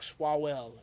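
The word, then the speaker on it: Swalwell: Eric Swallwell.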